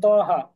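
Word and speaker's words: طه: যেমন আলাইকালস এই যে তহা এই তহা হচ্ছে ত এক আলিফ টান হাও এক আলিফ টান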